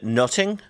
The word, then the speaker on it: nothing: a triple pun because in the dialect of the time the word nothing would have been pronounced as uh closer to noting which uh is both